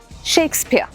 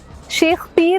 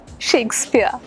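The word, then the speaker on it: Shakespeare: Absolutely he इज शेक्सपियर। शेक्सपियर बहुत ज्यादा ना प्योर बोलने की जरूरत नहीं है। शेक्सपियर शेख पीर नहीं शेक्सपियर।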